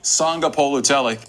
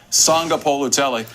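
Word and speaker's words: Sagapolutele: Sanga Polutelli. Again. Keave. Sanga Polutelli. Again. Keave. Sanga Polutelli. Say it loud. Keave. Sanga Polutelli. One more. Keave. Sanga Polutelli. I practiced. So it's Jaron Keave Sanga Polutelli.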